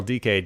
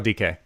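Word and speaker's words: Dike: phil and watching daryl dk do his thing for the united states is that how you say his name dk not dyke yeah it's deryl decay i've never actually heard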